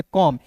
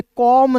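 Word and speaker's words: come: तो यहाँ पे देखिएगा सी का उच्चारण क हो जाएगा, एम का उच्चारण म हो जाएगा। ठीक है, तो इसे पढ़ेंगे कॉम। इसे कॉम नहीं पढ़िएगा, इसे क्या पढ़ेंगे? कम। एक ही बार में बोलेंगे कम, एल ओ वी E, love, लोभ नहीं।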